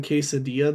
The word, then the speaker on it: quesadilla: Yeah, I mean, when you're a person that pronounces the L in quesadilla, though, it's not really that surprising.